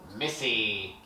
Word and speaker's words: Missy: is getting a kissy Missy her name literally rhymes with kissy that's the joke I'm